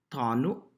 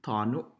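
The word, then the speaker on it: tano: For U, we have words like tanu, which is spelled with an O, but it sounds like U, tanu, right?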